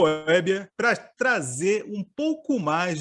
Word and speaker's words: Weber: Bom, desculpa, Meu nome é Weber, é meio estranho mesmo, meio diferente, mas é Weber, essa pronúncia. Alguns falam assim, Weber, que tem cerveja no meio, então já se torna mais fácil de entender.